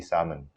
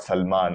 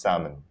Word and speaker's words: salmon: always be aircraft and salmon will always be salmon that's the way you pronounce it it's not salman all right please do not pronounce it salman is salmon it's a kind of a fish it's pronounced salmon all right the l salad the note says